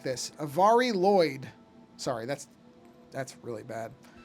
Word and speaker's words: Lwyd: But basically the way it's supposed to be pronounced is Avari. I guess you would do it almost like this. Avari Lloyd.